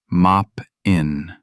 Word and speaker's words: Moppin: Moppin'. That's how she said it. Mop-in. 2 syllables.